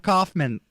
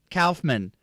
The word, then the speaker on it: Kaufman: Kaufman, not Kaufman. Kaufman. That's the correct.